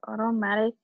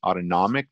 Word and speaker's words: autonomic: The automatic keeps your heart beating and your lungs free. Yeah, and actually that's a good way to think about it, Anna. I know you said automatic. It's actually pronounced autonomic, but it's okay because automatic kind of means